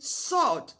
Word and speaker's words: sword: SW in sword, not sword.